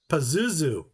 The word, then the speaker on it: Pazuzu: Pazuzu.